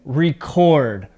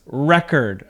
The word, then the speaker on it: record: a two-syllable verb now as a noun the word sounds like this record okay record the emphasis is at the beginning of the word so a record is